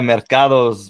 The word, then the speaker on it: Mercado: This is the How Did They Grow podcast, and today we have on Mercado. Did I pronounce that properly? Yeah, Mercado's market in Spanish, but yeah, Mercado in English, if you say it that way, yeah.